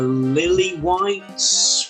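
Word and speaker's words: Lilywhites: you pronounced that correctly would you like to put the uh extra emphasis on the w lilly white's better better thank you thank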